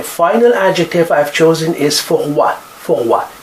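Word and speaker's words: froid: adjective I've chosen is for what for what you don't pronounce d and it is the masculine singular adjective to make it feminine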